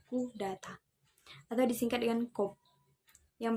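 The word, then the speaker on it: coup d'état: Pengucapannya adalah coup d'etat atau disingkat dengan coup, yang berarti merobohkan legitimasi atau pukulan terhadap negara.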